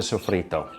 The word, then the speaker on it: soffritto: first we're gonna prep the soffritto. Now, Yeah, good pronunciation, bravo.